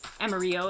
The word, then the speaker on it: Amarillo: Let's see, we got Love Dog, Enzo, Amarillo, or Amarillo if you want to be pronunciation correct on that, Catherine of Sky, Baby Beatles, Phil Helmuth, Kunoichi, I'm gonna get it right.